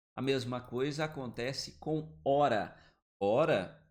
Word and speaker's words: hora: O H não tem som. Ele não vai produzir som.